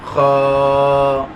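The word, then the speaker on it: خ: কে ধরেছে তিন নাম্বার তিন নাম্বার মাখরাজ হলকের শেষ হইতে অথবা হলকের শেষ ভাগ হইতে উচ্চারিত হয় যথা গাইন খ গাইন খ গাইন খ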